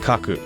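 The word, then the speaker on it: 書く: down or draw rather fun fact in Japanese the word for write and draw are this pronounced the same they have different kanji but they're both pronounced Kaku so I you know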